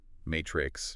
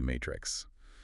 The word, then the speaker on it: Maitrix: The product folks apparently say either is fine, Matrix, or like the movie Matrix.